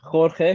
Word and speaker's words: Cuenca: everyone watching that still doesn't know how we pronounce our new signings name go for it it's full name okay quena quena I got spot on last week well